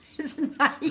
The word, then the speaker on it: Nike: If you've heard it pronounced both ways, then maybe, but on the commercials and everything, it's Nike.